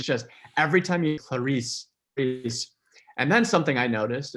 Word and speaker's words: Clarice: we've already mentioned but the two syllables of clarity like even the choice of name by harris is genius because it starts with this hard consonant sound clarisse and then it kind of turns into this hiss and in the book